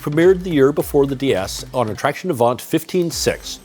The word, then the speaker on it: DS: of the revolutionary Citroen DS, pronounced the same way as the French word for goddess, which received so much